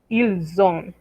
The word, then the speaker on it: ils ont: de il a con ils ont. Mismo caso, liaison. La S que no se pronunciaba, ahora se pronuncia. Pero no es una S, es una Z. Ils ont, elles ont.